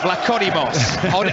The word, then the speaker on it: Vlachodimos: You know, I mean, you're the expert at these Greek pronunciations, you know, Ali. We've hardly mentioned the keeper's name. Yeah, Vlachodimos. Odysseus Vlachodimos of Benfica.